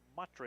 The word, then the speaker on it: Matre: Republic player taken down, no foul called, just hitting the turf was Max Van Matre is his pronunciation, M-A-T-R-E.